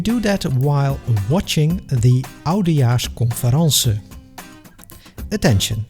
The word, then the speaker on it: oudejaarsconference: And most typically, we do that while watching the oudejaarsconference. Attention, in this context, we pronounce conference the French way.